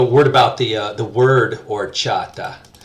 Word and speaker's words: horchata: the word or chata you'll notice that this is another good example of that silent H on the beginning there it is instead of horchata don't make the mistake of sounded like a gringo I'm saying horchata usually an H on